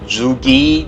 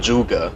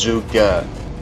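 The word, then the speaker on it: Zhuge: is z hu GE I heard people pronounce it jhuki jhuki orzo guy let's oh I'm incorrect and you should really pronounce this weapon juga in in the Rio pronunciation back to mandarin it's jus girl if you want to use English pronunciation or English accent it will be jus girl so it's not zhuji it's not juki is jukka the the spelling is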